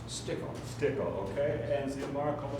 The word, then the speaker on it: Stickle: Your last name was pronounced? Stickle.